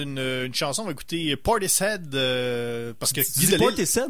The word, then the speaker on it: Portishead: C'est Portishead. Parce que le mot head en anglais, c'est quelque chose, hein?